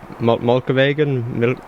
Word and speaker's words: Mjølkevegen: Do you know how to pronounce this route? Mjølkevegen?